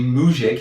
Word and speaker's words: Mujic: It's not pronounced Mugic, it's actually Mujic.